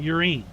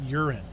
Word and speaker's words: urine: He was talking about urine. And we're like, dude, it's pronounced urine.